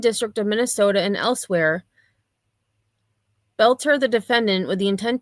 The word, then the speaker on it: Boelter: And I think he said belter. I was saying Bolter, but I think it's Belter. I was mispronouncing it.